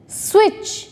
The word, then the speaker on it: switch: Listen, switch, often.